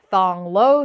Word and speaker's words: Thong Lo: is pronounced Pawn seven if you see pH KH or th it is safe to just ignore the H pretend it is not there so if you're in